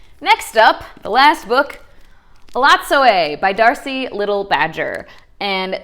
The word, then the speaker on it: Elatsoe: So Ellie, or Elatsoe, which I did not know how to pronounce that. I thought it was Elatso. In the book, they tell you it's Elatsoe.